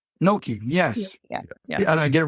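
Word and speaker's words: gnocchi: I don't get the pronunciation right, but is it Noi? Nope. Koshi. Kinoshi. No. Koshi is right. Noki.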